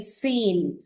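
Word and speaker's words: scene: तो यहाँ हमें बच्चों को बताना है कि letter C is silent here and the sound is for letter S.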